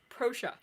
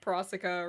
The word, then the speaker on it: Procia: name no okay so apparently it's pronounced like fascia but it's with pro so it's procia i've been saying like prasika or something prosha yeah ralph prussia sorry